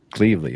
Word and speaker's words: Cleveley: We have a couple great special guests, Kate Morel and Cleveley. Did I pronounce that right? Almost. Cleveley. Cleveley. Okay. All right. That's actually easier to say than Cleveley, so I'm good.